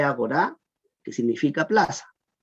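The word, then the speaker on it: ἀγορά: Agora se lee agorá, que significa plaza.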